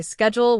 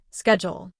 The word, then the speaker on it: schedule: In American English, people often say schedule with a sk sound sound. Schedule. In British English, it is often pronounced with a sh sound.